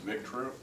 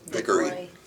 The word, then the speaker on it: Vickery: And then we also want to thank Bill I think it's pronounced Victory. Vickery.